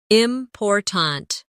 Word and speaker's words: important: For example, in the word important, we stress the second syllable, important.